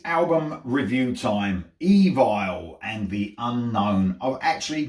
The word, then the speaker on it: Evile: Evile and the Unknown. I've actually got the name correct. I contacted an Evile fan, spoke to him, and he told me that's how you pronounce it.